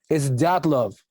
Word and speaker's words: Dyatlov: It's just when you say it like a Russian, it's Dyatlov.